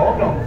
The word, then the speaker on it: Holo: Pues, primero que nada, la bala se pronuncia Holo.